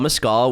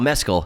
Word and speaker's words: Mescal: Paul Mescal was cast. Paul Mescal, sorry. Yeah, don't say it like mezcal.